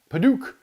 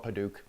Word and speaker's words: padauk: have not used before this is padouk or padak or paddock or i don't know how you want to say it but i call it padauk um it's p-a-d-a-u-k pronounce it how you like and uh this is